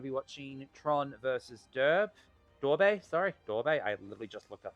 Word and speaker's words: Durbe: Durbe.